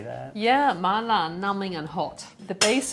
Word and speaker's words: mala: even the right way to say that yeah mala numbing and hot the base of the sauce